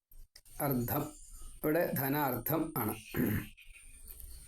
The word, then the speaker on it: അർദ്ധം: അർത്ഥം, അർദ്ധം. ഇവിടെ ധനാർത്ഥം ആണ്. ഒരു ചെറിയ ഉച്ചാരണത്തിൻ്റെ വ്യത്യാസം കൊണ്ട് അർത്ഥം വളരെ വ്യത്യാസം വരും. അർദ്ധം പകുതി, അർത്ഥം സ്വത്ത് മുഴുവൻ.